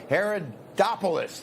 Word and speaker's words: Haridopolos: Haridopolos.